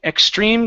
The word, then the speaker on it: extreme: Now, when we pronounce the X, it's a KS sound. So, it's extreme. Instead of extreme, it's extreme. Ex extreme.